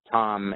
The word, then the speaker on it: Thom: So if you just type in Thom with Thom, the silent H, Welsh are known for their silent consonants.